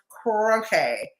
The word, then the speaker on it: crochet: It's pronounced crochet.